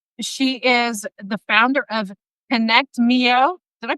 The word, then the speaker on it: ConnectMio: And she is the founder of ConnectMio. Did I pronounce that correctly?